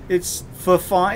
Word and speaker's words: Fifine: It's Fifine. It's spelled F-I-F-I-N-E.